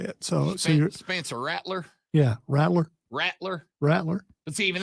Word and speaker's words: Rattler: Spencer Rattler. Okay. We had Shane Beamer on, friend of the show, Shane Beamer, a couple of months ago. And when talking about him, he pronounced it Spencer Rattler.